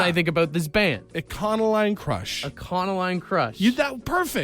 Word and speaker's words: Econoline: Econoline. Like economy. Econoline. Econoline. Econoline. You're now you're hard pronouncing the e.